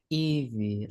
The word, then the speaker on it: Evie: Eevee. Like Eevee. Okay, I'm gonna I'm gonna write that down really big. Okay. Eevee. What's that? Like the Pokemon.